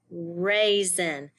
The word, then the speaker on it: raisin: Raisin, raisin. When you blend the word together, it sounds like there's a Z in the word, raisin, but it's actually an S, S-I-N, raisin.